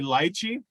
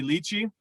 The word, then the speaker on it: lychee: me to do it i'm going to say lychee but normally i would say lychee but for you guys it's lychee and rose petals generally